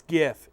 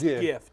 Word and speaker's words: GIF: GIF. It's GIF. It's GIF. Do not. GIF. Right. GIF. Okay. I know what it is. F. Do not pronounce it with a J.